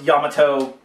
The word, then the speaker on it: Yamato: Or Yamato, I think is how you really pronounce it based off the giant Japanese battleship.